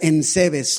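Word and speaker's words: εὐσεβής: Fíjese que la palabra del texto original del griego se pronuncia ensebes, y ensebes es como devoto, pero devoto en lo práctico.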